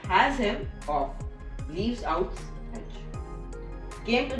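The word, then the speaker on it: Asimov: born on Russia 1920 he pronounced a last name which was has him off leaves outs Edge came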